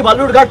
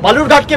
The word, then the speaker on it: বালুরঘাট: টিকিটে যেখান থেকে লড়ছেন তার নাম ভুল উচ্চারণ করছে বিকৃত করে বালুরঘাটকে বেলুরঘাট বলছে আপনি গিয়ে বলতে পারেন না যে অমিতজি এটা বেলুরঘাট নয় এটা বালুরঘাট চাকরি চলে যাবে এদের